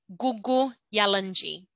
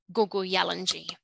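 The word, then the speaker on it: Kuku Yalanji: out with a G so the K is a g so it's pronounced as Google yellenji so listen closely if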